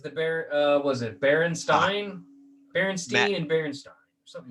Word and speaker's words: Berenstain: it up right now it's actually pronounced berenstain bears baron stain and it's spelled berenstain